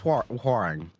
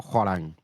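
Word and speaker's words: Hwoarang: It's Hwarang. Or you can do it with the accent as well, Hwarang.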